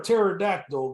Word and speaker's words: pterodactyl: can't you hear a pterodactyl go to the bathroom because the p is silent I already know the